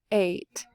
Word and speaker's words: eight: keep ing all right eight bait and again did we fool you because it's a long a remember a and i also make that long cool guy a sound eight all right so this